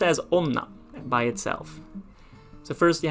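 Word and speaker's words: 女: unorthodox this is how you write it it's pronounced as onna by itself so first you have this little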